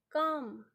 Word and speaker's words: calm: शी इज काम, CALM, इसका pronunciation आप काम करेंगे, ओके, काम पढ़ेंगे इसे, जिसे हम हिंदी में कहते हैं शांत।